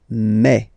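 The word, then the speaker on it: mes: Okay, so for the phonetical or pronunciation aspect of it, then remember that this es here combined will give you the sound e. Okay, so you'll pronounce it like me. Mais, mais, okay, te, so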